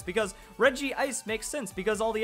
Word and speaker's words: Regice: regice regice so apparently we're supposed to pronounce it for the vowels that are there and not insert any extra letters because Reggie ice makes sense because all